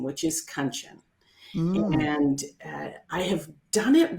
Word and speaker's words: Kanchan: I now say my name is pronounced Kanchan, rhymes with luncheon, in case you're wanting to know.